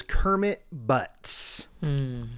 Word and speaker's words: Kermit Butts: This informant's name was Kermit Butts. Good, right? Pretty good. Okay. And spelled like it too.